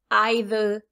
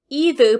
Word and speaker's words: either: Some people will say e, either with a strong e, neither, and some people will say I, either, neither. Either pronunciation is acceptable.